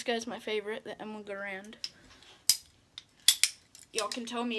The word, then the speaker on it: Garand: And this guy's my favorite, the Emma Garand. Y'all can tell me it's Garand, Garand. That's how you say it. Some people say Garand, some people say Grand.